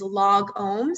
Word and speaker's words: lagom: is log ohms so it's like the word log and then if you've ever been in a yoga or meditation class just like you say it or chant it it's om so it's like really rounding out that o sound uh and this is